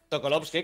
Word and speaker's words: Sokolovsky: Sokolovsky, como Tripalovsky, pero.